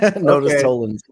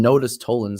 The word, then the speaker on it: Nodus Tollens: Now it's help me pronounce it. Nodus Tollens. Exactly. You said it right. Nodus Tollens.